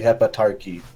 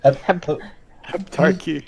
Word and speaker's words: Heptarchy: No, we are not with the Hepatarchy. Hepaturchy. How do you say it? Heptarchy.